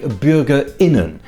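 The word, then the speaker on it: Bürger*innen: With a glottal stop. This is a sound made by closing the glottis in the throat. So instead of Bürgerinnen, you say Bürgerinnen.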